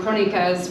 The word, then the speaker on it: Crónicas: But it's titled Crónicas, which is pronounced, it's a Portuguese, it's derived from a Portuguese writing form, Crónicas, where they would publish kind of daily journalistic happenings in the daily papers.